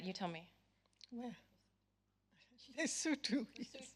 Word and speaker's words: Lesotho: I've studied places from, we have the same exact problem in England as, and I never pronounce it right, you tell me. Where? Lesotho. Lesotho.